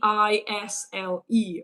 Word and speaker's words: aisle: So it's a I s l e right but we say isleisle isle seat.